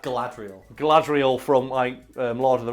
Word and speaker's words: Galadriel: And that's what isn't it Gadriel from, or how do you pronounce that? Galadriel.